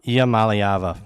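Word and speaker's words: Iamaleava: believe it or not it's pronounced exactly how it's spelled IIA malava IA malava once you just look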